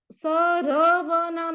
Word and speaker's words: सर्वनाम: को बोलो धर्म सर सरव नाम नहीं है सर्वनाम पहले र को बोलो सर्वनाम सी वी का प्रोनंसिएशन